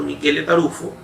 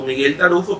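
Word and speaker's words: Michele Taruffo: vigente, es el doctor Michele Tarufo. Generalmente usted lo va a conocer como Miguel Tarufo, pero es italiano, esa es la pronunciación de su nombre.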